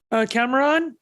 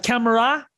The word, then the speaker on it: Camara: I was crushing with Casey, and this is Arthur Cameron. He was Camara. Sorry for pronouncing the last name wrong there.